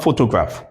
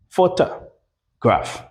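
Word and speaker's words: photograph: pho-to-graph pho-to-graph pho-to-graph Not pho-to-graph. It's pho-ta. pho-ta graph If I'm communicating, what is the point here?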